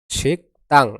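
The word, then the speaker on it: 식당: হয়ে এরপর আছে শিকতাং শিকতাং এর উচ্চারণ হবে কি শিকতাং এখানে গিয়ক বামের পর যদি দ্বিগুত আসে তাহলে দ্বিগুতের উচ্চারণ কি হয় ত হয় তাহলে কি দাঁড়ায় শিকতাং মানে রেস্টুরেন্ট শিক্তাং মানে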